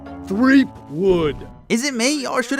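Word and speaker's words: Threepwood: tell me you found guy brush threakwood it's three wood is it me or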